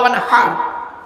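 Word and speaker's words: وانحر: ইন্না আতাইনা সূরা আমরা পড়ি, ইন্না আতাইনা কাল কাউসার ফাসাল্লি লিরাব্বিকা ওয়ানহার। হায় হুটি, এই গলার ভেতর থেকে হে এটা উচ্চারণ করবেন।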